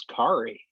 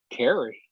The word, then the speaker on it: Kari: I would say her name is Kari. It is. But what do people always call her? Carrie. And what does she do? I don't remember. I know she says it's Kari.